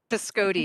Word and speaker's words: Piscotti: Piscotti, it rhymes with coyote.